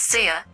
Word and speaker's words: Sia: It's Sia, not Thea.